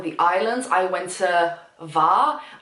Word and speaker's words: Hvar: I went to Var. I always pronounced it Var. It's H-V-A-R. It could be Hvar. I've always pronounced it Var. I might be wrong, someone's gotta tell me.